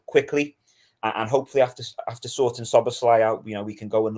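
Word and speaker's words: Szoboszlai: Apart from the spelling, it's not as hard to pronounce as you think. I went on there's a page that it says this is I think the Anfield rap did this is how you pronounce it, and don't worry about the Z.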